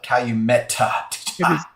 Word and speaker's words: Calumet: Hey, by the way, Major Zero said the T is silent. So here's what I would like to call it: Calumet. The T is not silent, but we don't know silent T's.